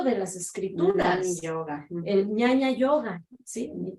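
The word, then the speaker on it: jñana: El ñaña yoga, ¿sí? Ñaña se escribe con J-Ñ, ñaña yoga.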